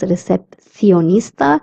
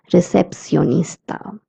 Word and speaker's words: recepcionista: The sound of CI is C, as I had told you, or C. So a person from Spain would pronounce this word as recepcionista, and a person from Latin America would pronounce it as recepcionista.